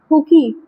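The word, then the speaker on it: Hooke: Dead cell was discovered by Robert हुकी इन 1665। Robert हुक होता है बट लिखते हुकी है, जो प्रोनाउंसिएशन होता है रॉबर्ट हुक होता है, इन 1665।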